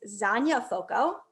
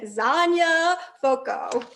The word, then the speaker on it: Zonya Foco: Her name is Zonya Foco. Great name, right? And to remember how to pronounce her name, she told me to think of lasagna coco.